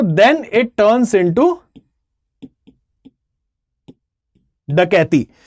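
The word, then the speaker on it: dacoity: अच्छा, इसको डेकॉइटी नहीं पढ़ते हैं, ये इंग्लिश में लिखा जाता है डकॉइटी जैसा, लेकिन ये है एक हिंदी वर्ड जिसको हम प्रोनाउंस करते हैं डकैती ही, ठीक है। इसको हम डकैती कहते हैं, डकॉइटी नहीं कहते, ओके। द प्रोनाउंसिएशन रिमेन्स डकैती, ये एक हिंदी वर्ड ही है।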